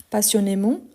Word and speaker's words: passionnément: s'aime avec passion donc passionnement passionnement passionnément ici vous voyez qu'il y a un accent donc ici on doit prononcer c e là ok passionnément OK ensuite